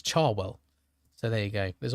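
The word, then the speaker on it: Cherwell: Someone in my video commented that it's not Chwell, it's Charwell.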